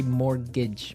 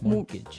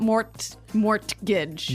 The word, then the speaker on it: mortgage: Yeah, it has a T in it, but you don't pronounce it. You say mortgage. Mortgage. So not mortgage.